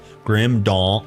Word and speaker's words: Grim Dawn: You're you're you're supposed to like draw it out, but you don't say dw, I guess, if that's what you're talking about. You almost pronounce dawn d o n and d a w n. This almost the same.